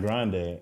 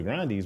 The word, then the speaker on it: Grande: It's not grande. It's actually grande. That's what she was saying. And but she was like like Ariana Grande sounded better. Like everybody ran with it sounds better. So it's like you're not going to correct anybody. Grandee the Grande.